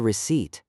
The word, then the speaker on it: receipt: Ahmed, what is a receipt? It is the small paper that says how much I paid. Receipt. The P is silent.